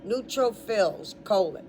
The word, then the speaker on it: neutrophils: call it a suffix, is fills, like Phil's garage, P-H-I-L-S, just not possessive. The beginning word is neutral, but not the way you're thinking. It's spelled N-E like Edward, U like use, and trop, fills, but one P, neutrophils, : These phagocytes